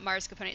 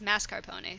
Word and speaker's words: mascarpone: mispronounced oh it's not Mars component it's mascarpone sorry mispronounced as Mars Capone even by food professionals oops um so yeah